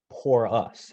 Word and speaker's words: Porus: And then when he was referring to city engineer Porus, he mentioned, porous, pronounced pour us, as in pour us a driveway, please.